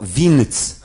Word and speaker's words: więc: Nie będzie więc tylko winc, czyli samo n n winc.